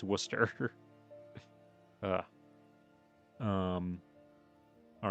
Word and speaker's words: Worcester: Worcester, I called it Warcaster cuz that's how it's spelled. But apparently you just don't pronounce any of the middle part and it's Worcester.